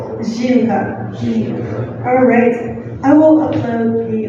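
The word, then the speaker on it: жинка: And the last word, the stress is on the first syllable.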